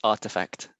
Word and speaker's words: RTFKT: of them before but artifact um i'm sorry it's pronounced artifact that's right that's right